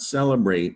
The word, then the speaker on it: celebrate: It's easily confused with celebrate, but that would be if you confuse the C as a soft C sound. Celebrate has the soft C because the C is followed by an E, and that's the rule about C. Celebrate. Calibrate, C's followed by an A. Calibrate, hard C.